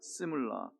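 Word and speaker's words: שמלה: 시물라. 한번 따라서 해보시겠어요? 이거는 C예요. 쉬가 아니고 시물라. 시작. 자, 제가 할 테니까 연속해서 따라서 해보세요. 시물라, 셜로모.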